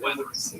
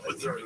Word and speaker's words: Wuthering: Wuthering Heights, not Weathering. Have I been saying Weathering? I thought I did an okay job of Wuthering. I believe it's pronounced Wuthering.